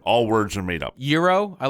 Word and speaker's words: gyro: to a Greek restaurant someone's order orders a gyro it's like no it's a euro what about what about